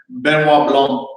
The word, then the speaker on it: Benoit Blanc: Ryan Johnson also shared that THR, the Knives Out sequel, would focus on, pronounce his name because I always butcher it. Where is it? Benoit Blanc.